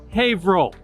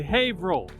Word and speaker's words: Haverhill: printing in Haverhill Massachusetts it's spelled Haverhill but pronounced Haverhill everybody say Haverhill You're Now official Haver lights handset type was